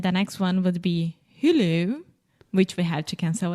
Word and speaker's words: Hulu: this in Portuguese okay in English we say Hulu Hulu okay try to repeat with me who who so exactly like who did this yeah who are you who okay but Alexia it's not who who that almost seems French who who